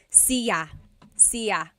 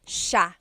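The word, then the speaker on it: siya: It looks like it should be pronounced sa cia but it's actually pronounced sha sha.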